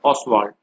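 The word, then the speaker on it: Ostwald: T silent, ऑसवाल्ड, Wilhelm ऑसवाल्ड ने।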